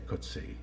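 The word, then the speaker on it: Coetzee: Prize novelist JM koty I know about six pronunciations of his name uh I'll just say kuty uh it was sworn to me by somebody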